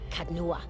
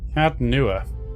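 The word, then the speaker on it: Caed Nua: Kadnua, beyond the Black Meadow. He will welcome the company. Cadnua. Alright. Definitely wouldn't have pronounced that cad, so thank you.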